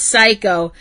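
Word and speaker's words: Saeko: You gotta put the E in there, because otherwise it sounds like you're saying psycho. No, psycho. As in psycho killer. No, Psycho. Psycho.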